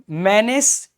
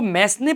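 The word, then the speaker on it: mesne: इसको मैस्ने प्रॉफिट नहीं कहते हैं कभी भी, इसका प्रोनाउंसिएशन होता है मीन प्रॉफिट। यहां पे एस को मत पढ़िए आप बस।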